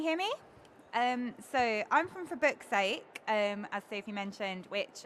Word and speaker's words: For Book's Sake: When you say it, I'll try not to accidentally swear. Still, even after all this time, when I say the name of it, I have to be careful that I say it correctly.